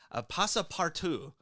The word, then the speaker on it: Passepartout: So, so he and his servant, Passepartout, and yes, it's pronounced that way because Verne thought he was being clever.